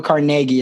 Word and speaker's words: Carnegie: say it would be Dale Carnegie um go Carnegie is I think actually how you say it and that's the author